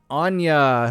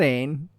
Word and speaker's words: Anya: Now we're going to talk about Anya. Look at, I said it right. Anya, not Ain. Anya.